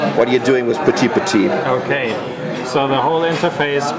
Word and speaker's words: Petit: So what you have is people, things, place, and time, which is pronounced petit. Okay, good French one. For small, right?